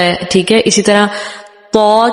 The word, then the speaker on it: طا: اسی طرح طا کے بجائے طوا ہو جاتا ہے. اس طرح نہیں کرنا.